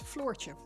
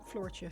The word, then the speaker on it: Floortje: So it's floor, as in the ground you walk on, just pronounced with a slightly sharper, I guess, than if you were to say floor. It's, yeah, floor with an ch at the end, Floortje.